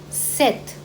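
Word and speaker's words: sept: as zero a the thr C sank sis set so here see p is silent so we don't call it as SE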